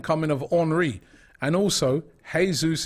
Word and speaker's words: Jesus: And also, Jesus is not Spanish. So the J is a H.